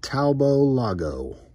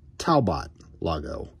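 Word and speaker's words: Talbot-Lago: a ford vicky hey the taobao lago i think the t is silent if not taubot lago and gtr i mean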